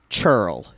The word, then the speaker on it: churl: here's the problem: the man she's with is an absolute churl. Like what's that word mean? Churl is Cheryl. It sounds like my Aunt Cheryl.